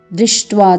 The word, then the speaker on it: दृष्ट्वा: दृष्ट्वा तु, यहाँ पर आप देख रहे हैं ट के साथ हलंत है, तो इसका उच्चारण हमने जल्दी जल्दी करना है। दृष्ट्वा तु।